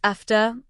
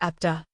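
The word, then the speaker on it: επτά: In Greek, the number 7 is pronounced efta or epta.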